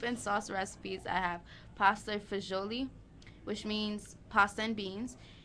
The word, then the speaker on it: pasta fagioli: now Yum Yum Yum it's also pronounced pasta fazool by many Americans showing it right now